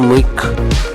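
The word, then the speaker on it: mug: जंजारा Dutch Dutch में मच्छर को कहा जाता है मुग जो प्रोनाउंसिएशन है वह होता है इस तरह मिक और स्पेलिंग है एम यू जी मुग रशियन में मच्छर को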